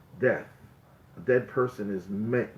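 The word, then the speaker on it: מת: A dead person is met, mace, if you use the Ashkenazi pronunciation.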